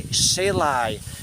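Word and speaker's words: Silay: Sipalai, Silai. S-I-L-A-Y, Silai at the side of Bacolod City. I always pronounce it wrong, you know me.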